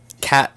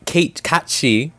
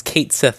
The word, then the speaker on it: Cait Sith: That's where you meet Cat Cait Sith is how it's pronounced. It's Cait Sith also.